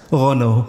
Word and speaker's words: Renault: Dengar selalu tengok masa F1 tu Renault Reno Reno datang dia please how do you pronounce this? Can you teach us? Renault.